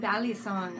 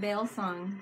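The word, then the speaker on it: balisong: wrong all my life I was like Bali song I used to call it baile song I didn't know I just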